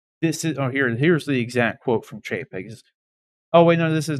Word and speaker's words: Chapek: Or Bob Chapek.